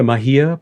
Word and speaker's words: Mahia: thanks to your complex on the Am I pronouncing it correctly, the Mahia Peninsula?